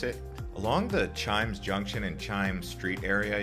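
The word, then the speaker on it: CHIJMES: very famous Colonial area known as Chimes uh it's got a J in the middle so take note of that when you're trying to pronounce it along the Chimes Junction and Chimes Street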